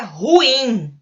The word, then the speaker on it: ruim: Não, ele é ruim. Ruim é uma palavra oxítona e não tem acento também.